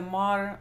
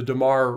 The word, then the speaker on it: Dammar: Dammar resin will actually, or Dammar, as I pronounce it, and Tanya pronounces as Dammar, and I know a lot of people, Dammar or Dammar, and you see the spelling on is Dammar is the two M's.